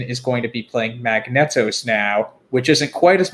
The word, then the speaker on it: Magneto: I wonder if it's Magneto. Oh, is it? Yeah, that could be. That's how they pronounce the X-Men character, but right. I just always read it as Magnet.